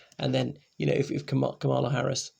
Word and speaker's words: Kamala: know if kamala harris kamala harris are trying to pronounce it correctly forgive me i'm often accentuating it wrongly like most people the the emphasis goes on the first syllable not the middle syllable i didn't know that